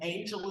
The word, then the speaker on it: Angel: We have, I was told Angel is the correct pronunciation, CEO of Interfaith Services.